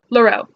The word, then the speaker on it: Leroux: the opera by gaston leroux I just recently found out that the X is not pronounced in French so it's clear oh this